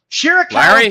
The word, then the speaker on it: Shirakawa: Shirakawa came down. He pronounced it correct, Larry.